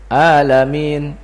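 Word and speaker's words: العالمين: artinya berubah Alhamdulillahi bilamin a dengan Ain kalau orang bacanya dengan Hamzah berubah tidak artinya berubah alamin alam alam artinya apa sakit kalau alam dengan Ain itu a alam alam dunia berubah artinya segala puji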